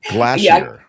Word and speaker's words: glacier: t and she does say Glacier in the more uh refined way in which uh new zealanders say things it's glassier yeah glassier we call that and that really is that's right it's the right way to say it right so um